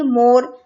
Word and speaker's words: more: ऐसे ही मोर, जब हम मोर बोलेंगे तो इसमें E का साउंड नहीं निकलेगा, ठीक है।